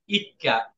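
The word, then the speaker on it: 一課: ইক্কা যদিও এখানে এইটা এই ইসিকা হবে না এই উচ্চারণটা হবে ইক্কা এই ইক্কা মানে ছোট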